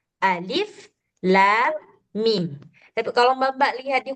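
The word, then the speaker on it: الم: Nah, kita kan enggak baca alama atau ilima atau ulima atau apalah sebagainya, tapi kita baca alif lam mim.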